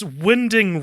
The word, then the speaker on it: Winding: Sorry, I was listening to a pronunciation of Nicholas Winding Refn. No. It is Winding.